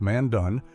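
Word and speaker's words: Mandan: The Mandon pronounced Mandun among the earliest plains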